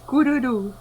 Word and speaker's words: Kururu: Yes, it's Kururu. So you don't roll it very hard. It's just like a roll off the tongue.